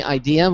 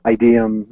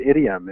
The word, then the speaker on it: Ideum: But my first friend said, because I said, what if people pronounce it idiom, and he said, only Maroons or idiots would pronounce it that way. But unfortunately, it's a lot of other people who I wouldn't put in that category pronounce it wrong.